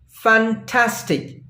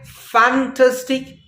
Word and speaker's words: fantastic: syllables fun tastic but we put the stress on the second syllable of the word Tas we pronounce it as fantastic pronounce it after me fantastic we don't say fantastic nor we say fantastic